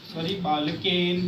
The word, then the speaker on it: बालकेन: बालकः बालकौ बालकाः प्रथमा, बालकं बालकौ बालकान् द्वितीया, बालकेन बालकाभ्यां बालकेभ्यः तृतीया, बालकेन बालकाभ्यां बालकैः।